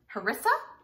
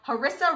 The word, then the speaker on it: harissa: i pronounce it because that first word harissa i'm going with i have a sister-in-law named larissa and her name kind of looks like that so we're go harissa roasted chickpea bowls i'm